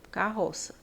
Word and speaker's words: carroça: ver as outras carroça carroça Eu tenho um dígrafo então é escrito assim K roça com dois R né mas quando eu vou pronunciar aqui é como se fosse uma única letra carroça tá então se eu